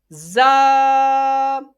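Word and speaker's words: ز: Za. I repeat again. Za is pronounced from the tip of tongue touching the inner edge of two top teeth and bottom two teeth, bottom front.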